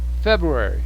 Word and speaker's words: February: fingers january repeat january february february now notice the r u is and the a are just kind of blurred together february february february february